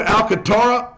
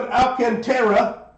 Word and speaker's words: Alcantara: Kevin Alcatara.